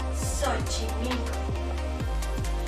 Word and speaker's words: Xochimilco: En este caso, la X aparece al inicio de palabra, muy cerca de la Ch, por lo que la X se suaviza y se pronuncia como S, Xochimilco.